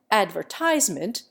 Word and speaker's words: advertisement: Advertisement offers an example. The prevailing American pronunciation, despite incessant pedagogical counterblasts, puts the accent on the penult, whereas the English pronunciation stresses the second syllable.